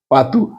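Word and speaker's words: pato: কিন্তু এখানে উচ্চারণটা কিন্তু বলো ইউ এর মত উচ্চারণ হয়েছে একই রকম দেখেন পাতু হাঁস পে আ তে ও পাতু এখানে ও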